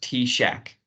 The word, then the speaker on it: TSAHC: T Shack uh well first of all it's pronounced T Shack and yes I know that sounds kind of